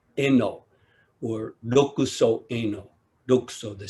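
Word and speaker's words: Enō: became the sixth patriarch in japanese his name is pronounced eno or loku locus luxo the sixth patriarch inno when he was just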